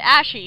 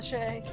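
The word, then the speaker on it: Ashei: I swear I always pronounce it as Ashe. I've always said Ashy because it looks almost exactly like Ashley, except instead of an L-Y, it's got an I.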